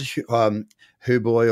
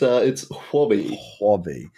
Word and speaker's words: Huobi: So across, you said Huboy, or I don't know, Warboy, or however you pronounce it, you just nailed it. I can't seem to get there. Hobby or something? It's Huobi. Huobi. I had to look that one up on YouTube to make sure I was pronouncing it properly, but yeah, Huobi.